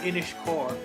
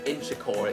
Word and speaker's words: Inchicore: Inishcore. Inchicore it's pronounced.